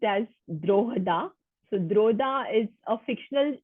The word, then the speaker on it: Drogheda: So it's pronounced as Drogheda.